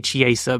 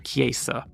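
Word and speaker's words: Cesaris: cheeseburg Eddie cha andreaa I used to say cha but I was told it's actually kesa Max Chilton shimi again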